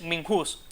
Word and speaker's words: MINJUS: porque termina en S, hay que acentuarla en la U, porque uno dice Minhus y no Minhus.